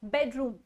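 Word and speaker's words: bedroom: For example बेडरूम, आप note कीजिएगा हमेशा बेडरूम वाले वर्ड में बेड पे ज्यादा स्ट्रेस होता है, रूम पर कम, बेडरूम, ठीक है।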